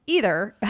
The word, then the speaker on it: either: That's neither, and either is Either. Now, some people pronounce that with a E sound, and some people pronounce it with an I sound, and neither one is right or wrong.